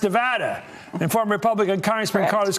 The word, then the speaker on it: Nevada: I'm joined right now by Democratic Congresswoman Dina Titus from Nevada, pronounced Nevada, and former Republican Congressman Carlos Cabello.